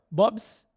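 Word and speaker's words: Bob's: Bobs pron pronúncia em português.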